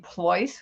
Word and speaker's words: Pleuss: is with 1n my last name ploys which rhymes with choice voice or rolls royce is spelled p as in peter l e u s s as in sam sam i post regularly on